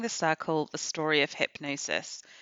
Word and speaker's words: Hipgnosis: you about squaring the circle the story of hypnosis spelled h-i-p-g-n-o-s-i-s so hypnosis was an artistic creative